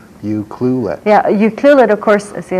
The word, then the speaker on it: Ucluelet: It's not you culet, it's you clulet. It's hard to say. Ucluelet.